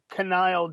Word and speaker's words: Knile: Well, first off, I believe it's pronounced Knile Davis, Very but funny.